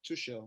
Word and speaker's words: Tuchel: So now, breaking news: Thomas Tuchel, right? I don't know if that's how you pronounce it.